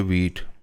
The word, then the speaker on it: Vite: तो एक नया मेथड है, अब वो शुरू हो गया है, उसको VIT वीट कहते हैं, प्रोनाउंस वीट कहते हैं।